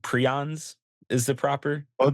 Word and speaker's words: prion: Like, Yeah, we got some Kuru news if you want to talk about prions. Kuru. Oh, And it's pronounced prion.